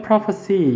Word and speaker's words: prophecy: 그리고 cy로 끝나면 prophecy 이렇게 발음합니다.